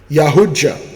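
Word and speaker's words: Yautja: Okay, the predator, also known as Yahuja, pronounced Yahuja.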